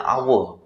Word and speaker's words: hour: telur ya misalkan yang karena si hour itu dibacanya awal dan awal itu adalah suara dari vokal jadi kita pakainya jadi